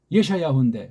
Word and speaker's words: 예샤야후: 예샤야후인데 구약 발음으로는 예샤야후. 우리 한글은 뭐 이사야?